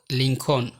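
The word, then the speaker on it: Lincoln: এই শব্দগুলোর এল সবসময় সাইলেন্ট থাকে, যেমন কাফ, হাফ, সাভ, বাম, খাম, পাম, চক, টক, walk, code, should, would, colonel, folk, yoke, লিঙ্কন, almond, সেমন।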